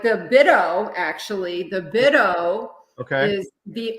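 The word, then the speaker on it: BITO: Bido or Bido, or how do you say it? Bido? Bido. I think everybody says Bido. That's what I say. Okay, Bido it is.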